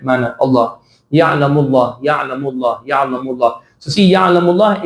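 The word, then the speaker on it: يعلم الله: So see, Ya'lamullah is a good example for both of the lams. La is the light pronunciation, tarqiq one, and Allah is the heavy one. So Ya'lamullah. This is the correct pronunciation.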